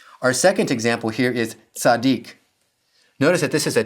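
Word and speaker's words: צדיק: The first syllable, tzad, is closed and unaccented, so it has a short vowel. The second syllable, dik, is closed and accented, so it has the long vowel, in this case, the unchangeable long vowel.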